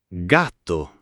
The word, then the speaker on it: gatto: Cane, gatto, gatto, non gatto come in inglese, ma con la a corta.